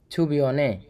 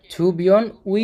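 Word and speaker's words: 주변의: অর্থনীতি সংস্কৃতির কেন্দ্রীয় এলাকা ছুবিয়নে পাশাপাশি এর উচ্চারণটা কি হবে ছুবিয়ন উই না কারণ এই ছুবিয়নটা একটা হচ্ছে নাউন আর উইটা যখন নাউনের সাথে বসে তখন এর উচ্চারণটা হবে এ তাইলে ছুবিয়নে আশেপাশে বা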